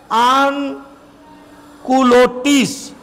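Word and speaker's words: sans-culottes: या विदाउट ये देखिए ऑन का spelling S ए एन एस है लेकिन एक्चुअली एस जो है यहां साइलेंट है इसलिए सांस नहीं इसको पढ़ा जाता है सांस नहीं पढ़ा जाता है ऑन पढ़ा जाता है एस कंप्लीटली साइलेंट है यहां पर तो इसको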